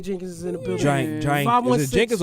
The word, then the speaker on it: Jenkins: is in the building Jenkins or jenin don't say my name like that is a j can